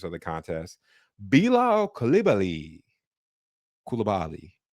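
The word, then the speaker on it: Coulibaly: Bilo Calibi Kulibali. I'm pretty sure it's Calibi is the correct way to say it, but hey, you know, we we'll work on that.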